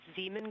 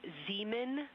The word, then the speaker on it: Zeeman: Integrity science, we believe that's Zeeman crater. Oh, I floated away from the speaker's head again, please. We believe that that is Zeeman crater.